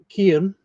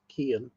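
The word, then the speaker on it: Cian: Uh, Kian. Kon. Kian. Uh, C I A N.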